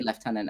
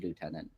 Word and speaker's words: lieutenant: So we say left tenant and Americans say lieutenant.